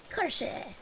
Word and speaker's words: Kirsche: Kirsche, yeah. That's why my art tag is Kirsche art. Because when you pronounce Kirsche, like an American, it's Kirsch. So cursed art.